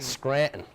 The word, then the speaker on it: Scranton: I'm from Scranton, Pennsylvania. Scranton. Scranton. You don't pronounce the first T.